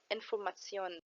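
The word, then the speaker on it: Information: بس مختلف في النطق فمش بنقول شن زي الانجلش لا بنقول سيون وهنا كلمه المثال معانا انفورماسيون واخر مقطع واللي عليه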